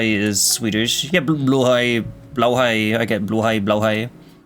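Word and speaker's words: Blåhaj: I know it's technically Swedish, but I think it's pronounced blowhai, which makes sense cuz that would also be what you would call it in German.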